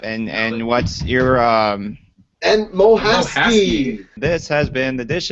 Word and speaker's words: Mohasky: Mohasky.